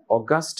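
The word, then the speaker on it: August: group of athletes or অগাস্ট group of প্লেয়ারস তার মানে একদল খুব দক্ষ চৌকস খেলোয়াড় সুন্দর না উচ্চারণ হবে তখন এটার অগাস্ট সেইম বানান আর ওটা এডজেক্টিভ রাইট আর এটা হচ্ছে অগস্ট এটা নাউন রাইট এবং এটা প্রপার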